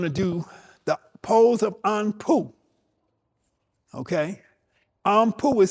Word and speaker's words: Anpu: We're going to do the pose of Anpu. Okay? Anpu is spelled A N P U.